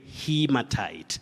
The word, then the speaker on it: haematite: In fact, in geology, you say hematite. Hematite.